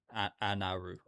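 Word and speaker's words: アナル: So that's like the that is said like Anaru. Doesn't sound too bad. Anaru. I feel like if you're a foreigner and you read that, you wouldn't think that says anal.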